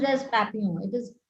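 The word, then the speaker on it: Papillon: Papio by that name it's a French name kind of it's a P A P I L O N pronounced as Papio it is papulon many people will pronounce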